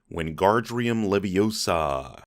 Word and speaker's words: Wingardium Leviosa: Ron said, Wingardium Leviosa. Wingardium Leviosa.